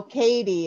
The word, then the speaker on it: Cadi: Oh, Cadi is how it's pronounced.